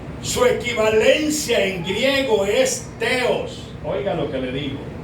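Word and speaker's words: θεός: Ejemplo, dice Elohim en hebreo y el otro nombre sagrado que es impronunciable y hh, también le decían Adonay, que significa señor. Su equivalencia en griego es teos. Oiga lo que le digo. Teos.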